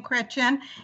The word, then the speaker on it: Chrétien: she calls the name Christian and I call it chrétien because with when we can't yeah so the she's pronouncing it the French Way but it's spelt CH